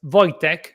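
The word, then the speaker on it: Wojciech: Voytech. Probably that's how it's pronounced. You pronounce my last name perfectly. My first name pronounces uh as Voytech.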